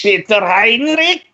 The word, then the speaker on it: Peter Heinrich: It'd be pronounced Rick, as in the German name, Heinrich. It's Peter Heinrich.